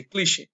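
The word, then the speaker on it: cliché: উইয়া হয় এখন দেখেন এই যে ক্লিশে এর উচ্চারণটা অনেকেই ক্লিসে বলে অনেকে ক্লিশে বলে মানে এক্সাক্ট উচ্চারণটা কি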